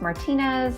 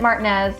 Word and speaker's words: Martinez: about over here is Martinez I know it should be pronounced Martinez I'm a Spanish major I lived in Spain